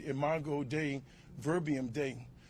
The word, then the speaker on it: dei: I said imo day, verbium day. Once you spell day in Latin, it's spelled dei. Come on.